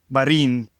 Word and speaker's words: Marin: Marin.